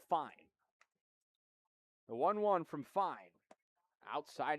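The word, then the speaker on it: Fein: years ago called Fiend, but it's pronounced fine.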